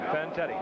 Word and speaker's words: Fantetti: Fantetti.